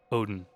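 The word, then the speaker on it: Oedon: I pronounce it as Odin.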